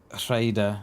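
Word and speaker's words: Rhayader: Rayada? Rayada? Yeah, it is, mate. Yeah, you got to roll your R's, you have. But yeah, it's pronounced Raider.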